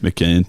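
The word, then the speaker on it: McKeon: Like the fact that Cody's now dating Emma I'm no chance of pronouncing McKean. She's Who's McKean on him. Yeah, gotcha. Yeah, that's how you remember it.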